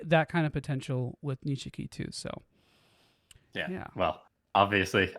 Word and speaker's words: Nishiki: how do you say his name yeah nishiki nishiki okay um i i see parallels between